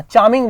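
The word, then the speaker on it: charming: आकर्षक लग रहे हो इसको आर को साइलेंट है ना आर नहीं पढ़ना चार्मिंग बोलना इसको ना यू आर लुकिंग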